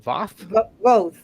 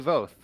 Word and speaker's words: Voth: do you say your last name is it vaf both sorry about that voth and she'll be presenting her new uh json